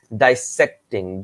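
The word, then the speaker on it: dissecting: ডাইসেক্টিং, DISCESECTING, ডিসেক্টিং, এরকম উচ্চারণটা, তাই না? ডাইসেক্টিং, কিন্তু বানানটা হচ্ছে ডিসেক্টিং, এইরকম।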